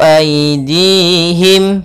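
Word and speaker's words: أيديهم: Wa ma amilat hu aidihim, pada lafal ai di sini ada bacaan lin, yaitu lembut dalam pelafalannya, aidihim.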